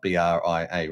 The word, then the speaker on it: Bria: Uh I always call it Brier because it's spelled B R I A, right?